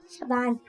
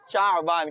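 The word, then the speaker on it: شعبان: शबान। शबान। Confirm है? शाबान क्या होता है? शाबान। शाबान। शाबान आइन साकिन है, ठीक है?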